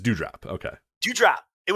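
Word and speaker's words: Doudrop: say it dew drop is it dew drop or duo drop just do drop it duo drop nah just do drop dude dew drop okay do you drop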